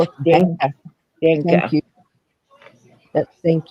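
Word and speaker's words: Danke: It's thank you, but it's Danka Danka. Yeah. or Danka. Yeah. My It my depends hus- on what part of Germany you're in, how it's yeah, my pronounced.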